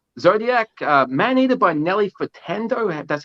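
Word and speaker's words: Nelly Furtado: by rod stewart zodiac uh man eater by nelly fertando that's how you say her name and how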